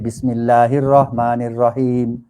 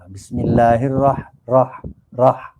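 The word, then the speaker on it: بسم الله الرحمن الرحيم: Amin mesti panjang oke yang ketiga ialah huruf H Bismillahirrahmanirrahim sebut dengan pedas macam itu makalah tak boleh Bismillahirrohmanirrohim rohmanirrohim X tak boleh bukan huruf x tapi huruf H mesti dengan huruf H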